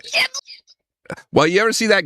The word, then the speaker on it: Ghibli: You know that guy that cases when they say Ghibli, I'm like, it's Ghibli.